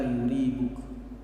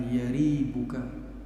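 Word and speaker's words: يَرِيبُكَ: Jadi boleh dibaca yaribuk, boleh dibaca yuribuk. Walaupun memang menurut keterangan kitab ini yang lebih fasih, yang lebih tepat, yang lebih bisa diterima adalah membacanya dengan fathah, yaitu da' ma yaribuka, walaupun tetap dibolehkan membaca dengan dhammah.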